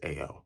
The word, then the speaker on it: Ao: It's spelled literally A and O, so I'm assuming it's Ao.